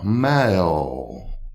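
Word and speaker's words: Daily Mail: pronúncia não pois é Mel é assim que se pronuncia normalmente em inglês a palavra maiu não pois é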